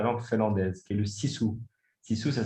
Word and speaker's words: sisu: C'est un concept qui n'existe que dans la langue finlandaise, qui est le sisu. Sisu, ça s'écrit S-I-S-U, et ça veut dire force intérieure,